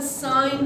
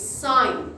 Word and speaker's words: sine: just write si and never ever call it sin I don't like it it's sign what is it all